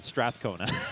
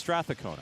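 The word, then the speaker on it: Strathcona: too that help so is that how to pronounce straa cona stona count I've been mispronouncing I've been I've just been saying Strath cona okay so it's stona okay yeah stona County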